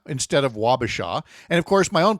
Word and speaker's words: Wabasha: uh Washa instead of Wabasha.